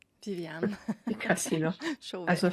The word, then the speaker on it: Viviane: refreshing to hear you say my name correctly Vivan because you know as a French canadi